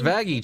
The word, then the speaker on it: Vaggie: Uh, did you catch Vaggie? Change her name like Blitz from Hella. The E is silent.